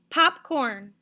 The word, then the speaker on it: popcorn: All right, here's your next word, popcorn. Popcorn. All right, very good. The first syllable, pop, is longer, louder, and higher than corn.